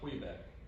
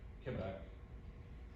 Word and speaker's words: Quebec: Quebec, it's not Quebec, Quebec, which is the right way to say it.